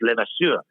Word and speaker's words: LeVasseur: The French pronunciation is LeVasseur, and people could never pronounce it.